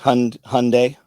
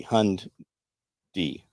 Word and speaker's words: Hyundai: Pronounced Hyundai, just like Hund, add a D. Hund D.